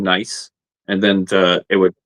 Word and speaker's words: gneiss: Now, where did nice guys come from? Now, I know that's a geological spelling of the nice It primarily came from watching Jeff Williams and he just kept saying nice and then the it